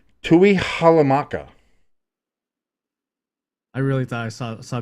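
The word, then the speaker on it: Tuihalamaka: Takanamamuma. I mean, Close. I applaud the effort. That is Junior Tui Halamaka.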